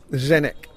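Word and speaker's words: Zdeněk: their next D bar I got told off on Facebook for pronouncing making it more syllables and it should be but it's definite zenyk is their neck just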